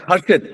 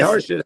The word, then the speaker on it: Harid: name is harit Sir how do you say it again it's harid hasid how do you oh harid I can't see that harid okay harid how are you great